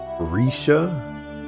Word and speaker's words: Rixia: It's pronounced Risha, but I'm going with Rixia.